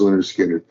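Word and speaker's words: Lynyrd Skynyrd: And then he picks up, gets me Skinner, pronounced Leonard Skinner.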